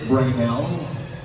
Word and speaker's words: Brainal: Now let's call in Ginoong po, Brainal. Hello. You have three names right over here. Am I saying it right? Is it Brainal? Yes.